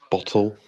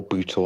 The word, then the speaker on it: Bootle: Labour hold Bottle, or Bootle, I should say. Bootle.